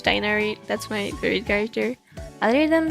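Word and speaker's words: Tighnari: I think the somewhat correct pronunciation is Tornari. Or as they say in English, Tainari.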